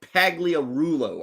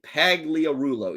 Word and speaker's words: Pagliarulo: Mike Pagliarulo, I think was the pronunciation. Is that right? Mike Pagliarulo.